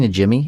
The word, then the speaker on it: Najimy: It's Najimy, Kathy Najimy. Is that how you pronounce it?